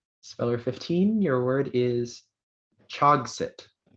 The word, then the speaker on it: chogset: Speller 15, your word is Chogsit. Say again, please. Chogsit. You said Chogsit.